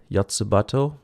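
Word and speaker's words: Yotsuba&!: sadly next up is yatsuba or is it yatsubato let's according to wikipedia it is anyways uh i didn't know that's how you pronounce an ampersand but however it's pronounced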